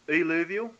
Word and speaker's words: eluvial: So what I say, the way we pronounce it is eluvial and alluvial.